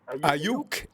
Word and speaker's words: Aiyuk: Aiyuk.